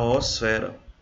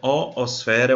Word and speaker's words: oosfera: com o gameta feminino A oosfera tá a os fera tá o nome a pronúncia oosfera o gameta feminino e